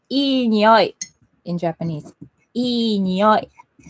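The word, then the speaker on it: いい匂い: smell is, we say ii nioi in Japanese. Ii nioi. Like, ah, ii nioi. Ii means good. E, like just pronounced like A, B, C, D, E is E, you know.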